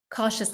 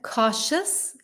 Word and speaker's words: cautious: Cautious. Let me repeat that again. Cautious. Cautious. And there's a shh sound.